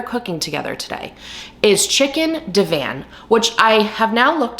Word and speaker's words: Divan: together today is chicken Divan, which I have now looked up how to say it, but throughout the entire video, I say it incorrectly. I say chicken Devon, but I know you guys will forgive me.